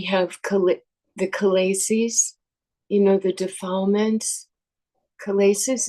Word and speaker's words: kilesa: Chalaces, is that the right pronunciation? Kilesa.